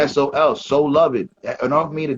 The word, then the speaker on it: Soluv: name is s-o-l-u-v h-i-p-h-o-p I spell it out because it is sold it's Sol so love it enough for me